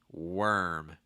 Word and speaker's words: worm: tend to be tricky worm wor worm so it's just like saying were like the past tense of the verb to be were and then adding an m sound after it worm worm what you